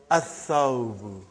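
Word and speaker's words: الثوب: So, brother, whenever there is a sun letter, you will not pronounce Lam.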